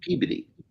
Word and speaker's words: Peabody: Like up in Massachusetts, Peabody is pronounced Mhm. Peabody.